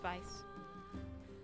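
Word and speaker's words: Weiss: So It's You don't need to roll your R's or anything, just Vice.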